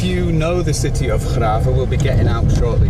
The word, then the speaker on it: Grave: Listen, if you know the city of Graafs, we'll be getting out shortly to see it. You spell it Grave.